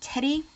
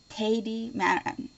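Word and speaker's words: Tedi: local store here called Teddy, and T-E-D-I. That's how I've always pronounced it. Teddy. The Germans might pronounce it some other way, but I would just call it Teddy.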